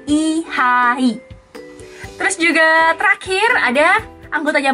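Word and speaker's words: Lee Hi: Tulisannya L-E-E sama H-I. Dalam bahasa Korea, nama dia I-H-I. I-H-I. Bukan lihai, bukan lihi, tapi I-H-I.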